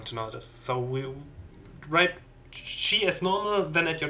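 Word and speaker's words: じ: You pronounce this as G. This character is an exception in this set. It's not a Z syllable. Just for everyone to notice. So we write G as normal, then add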